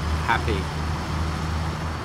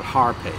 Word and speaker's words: Hape: calling him pop it happy there is no R so it's not Harpe I do think that